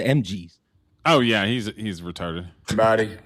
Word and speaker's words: MGs: It's not Booker T and the MSGs. That sounds like a Korean or a Chinese cover band. It's the MGs.